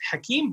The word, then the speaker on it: Hakim: So here it was Hakim, but the H was taken out. Yes. Like Akeem.